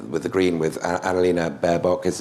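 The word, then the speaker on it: Baerbock: the green with analina berbock is is that a mispronunciation bear book um it is you nodded it's it's a mispronunciation no no it's a correct pronunciation i don't want to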